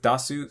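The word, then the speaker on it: 出す: Same thing with dasu, su, da, this is the second to last syllable, so the drop's going to be after the da.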